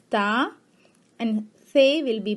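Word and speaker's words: ت: Te will be pronounced as Ta, and Fe will be pronounced as Fa.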